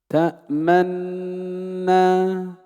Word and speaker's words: تأمنا: نبدأ بالوجه الأول وهو وجه الإشمام، أن نشير بالضم أثناء نطق النون الأولى. اسمع: تأمنا.